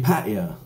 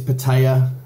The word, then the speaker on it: Pattaya: last vlog sorry um i got battered for saying patio and for patio and i've got people asking is it paddy jar paddy uh guys if my pronunciation is confusing or maybe you think it's incorrect i'm sorry okay yes it is pattaya and buzzing pattaya but